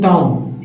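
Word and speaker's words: tomb: बम ब बम अब टम यहां भी बी साइलेंट है टम में रिकम रिकम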